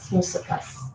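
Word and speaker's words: μουσακάς: Musakkas. Yes, the stress is on the last syllable in Greek.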